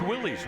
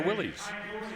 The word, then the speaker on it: Willys: And you know, Scott, we have to tell people that Willis is the correct pronunciation. Yes. Of that. We always get, "No, it's Willys." Well, not really, but the hot rodders got a hold of the Willis and when they started racing them, suddenly they were Willies, which sounds more cool, but anyway.